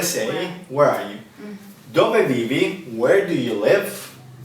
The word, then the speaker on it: dove: And Italian is dove. Careful, don't read dove. It's not a dove. It's dove.